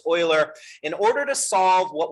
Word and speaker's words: Euler: That's pronounced Euler. It looks like Euler, but it's German. It's Euler.